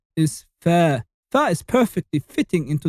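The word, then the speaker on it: فاء: And it's pronounced like the f of phone or the f of football. So you say fa.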